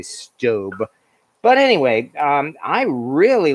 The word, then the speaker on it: Staub: website it's i mean it looks like it might be starb or staub but it's actually stobe but anyway um i